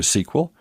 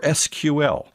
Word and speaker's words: SQL: Note that SQL may be pronounced either SQL or SQL, depending upon your background. Both pronunciations are arguably correct.